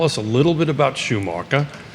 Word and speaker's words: Schumacher: Tell us a little bit about Schumacher, right? Did I pronounce that correctly?